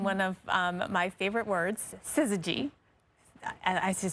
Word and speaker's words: syzygy: Perfectly aligned in one of my favorite words, syzygy. I should spell that right.